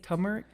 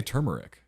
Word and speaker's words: turmeric: He doesn't like it when we say Turmeric? What do you I say turmeric. turmeric? There's an R in there.